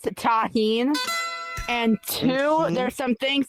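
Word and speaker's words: Tajín: First off, it's pronounced taheen.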